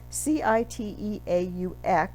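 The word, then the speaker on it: Cîteaux: We pronounce that, you know how French words have a lot of vowels, many of which are not pronounced. Citeaux at the end, X's at the end of words, they don't pronounce either.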